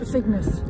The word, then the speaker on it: Trefignath: Trefignath. Yeah. That's how you pronounce And this has got a much nicer